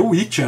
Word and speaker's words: Wicca: Então, a palavra Wicca, que se pronuncia Witcha, né, é em inglês